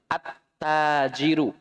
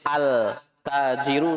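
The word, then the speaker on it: التاجر: arrojulu ya perhatikan disitu cara bacanya sudah betul lemnya tidak dibaca sukunnya attajiru Mbak boleh altajirun salah altajirun salah attajiru shaumu bukan allsub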